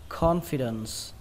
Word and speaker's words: confidence: bạn đọc là confidence confidence the date trọng âm của nó rơi vào đầu tiên âm can call Các bạn nhớ khi